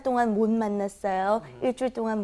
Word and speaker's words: 못 만났어요: It's kind of like an N sound, isn't it, when it comes before an M.